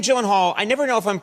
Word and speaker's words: Gyllenhaal: name is it not it is a Swedish name so shouldn't it be like Y and all oh my God I have to and all the only two places that that is pronounced correctly my last name like you did just now is in Sweden uhhuh and in Ikea Ikea